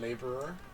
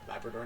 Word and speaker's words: Labrador: new found land and laborer La lab Labrador Labrador not laborer um new broomstick and